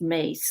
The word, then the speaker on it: Myss: and mace even though it's pronounced mace like m-a-c-e uh it's spelled m-y-s-s